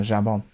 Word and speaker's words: jambon: no, jambon. Hamon. Come on. Yeah, it's spelled J-A.